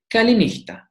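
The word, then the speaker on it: καληνύχτα: You hear the sound h, h. Kalinichta.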